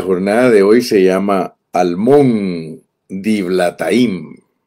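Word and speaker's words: Almón-diblataim: de hoy se llama almón dilataim así leído en español almón dilataim Esa es la manera que se pronuncia en español almón dila bueno quizá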